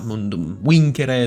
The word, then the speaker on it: Mundum Vincere: the mod, and no, I'm not going to stop pronouncing it the annoying way, just because it also happens to be the correct way. I understand that the accent and the what are they called? The long vowels, I think? Vowel lengths? I think that's what they're called, grammatically speaking. Might be a bit annoying to some, but it's how the Romans would pronounce it, so take it up with them, I guess.